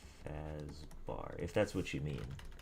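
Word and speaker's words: Fazbär: name is friedrick fazar which is spelled b a with the uml R so it's like fazbar if that's what you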